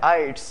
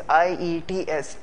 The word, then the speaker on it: IELTS: पहले जो करेक्शन मैं करना चाहूँगा, ये जो L है ये साइलेंट है. मतलब कि हमने इसको पढ़ना है IELTS, जैसे IETS IELTS.